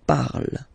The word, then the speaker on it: parle: pronounce it is je parle, parle. So remember, we put it, okay, but then we don't really pronounce it, je parle, okay.